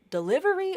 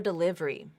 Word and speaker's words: delivery: uh delivery or delivery this one can go either way here I've shown you the non vowel Syncopy pronunciation delivery 1 2 3 4 delivery versus deliv delivery three syllables that one can go either way uh but I think I probably pronounce this word more often like delivery as the four syllables so again 12 words